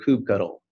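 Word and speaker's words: kubectl: a new logo for coop cuddle and thanks to Ashley McNamara for creating creating this it's a play on the cuttlefish and if you don't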